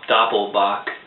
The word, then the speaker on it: Doppelbock: This is a Paulaner Salvator Doppelbock. Although in German it's Doppelbock.